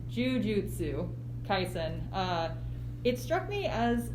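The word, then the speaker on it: Jujutsu Kaisen: uh the juji oh i always say this wrong because it's got an extra syllable jujutsu tyson uh it struck me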